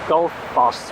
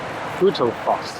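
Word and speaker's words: Gullfoss: There's like Gulf Foss, but it's actually Guto Foss, because L is spelled like TLE, it's pronounced TLE.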